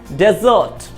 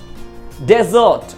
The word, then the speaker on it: desert: एज a noun इसका pronunciation है डेजर्ट, डेजर्ट। अब देखिए जो स्ट्रेस है, प्राइमरी स्ट्रेस, एक्सेंट, ये फर्स्ट सिलेबल पे लगा है, ड पे लगा है, डेजर्ट, इसका मतलब होता है रेगिस्तान।